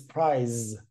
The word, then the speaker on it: prize: But this one is prize, and spelled with a Z and pronounced with a Z, prize.